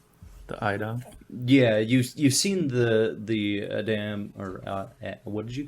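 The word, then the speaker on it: a'dam: Yeah, you've seen the Adam, or what did you call it? An Idom? Idom, I think is how they pronounce it in the audiobook.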